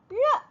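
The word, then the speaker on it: 热: 됐었죠 르 르 네 발음 자체는 쉬운 발음은 아니에요 우리나라 사람에게는이 R 발음이 특히나 조금 어렵습니다 어려운 건 맞아요 하지만 그냥 흉내 내기 따라하기 정도로 예 그렇게 내셔도 괜찮습니다 좀 약간 혀의 보톡스를 낮다라고 생각을 하시고 혀의 근육이 움직이지 않는다라고 생각을 하시면서 발음을 하시면 좀 더 정확한 발음이 나올 수가 있어요 르 네 그의 반에서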